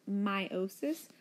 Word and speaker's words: meiosis: today's fun is over mitosis verse meiosis it's pronounced meiosis like that is a long I instead of